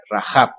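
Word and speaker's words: Rahab: con jota porque se escribe con jota verdad rajab aunque nuestras vidas latinas aparece con h en el hebreo aparece con un sonido de la gente rajab bueno qué ocurrió aquí esta mujer miente a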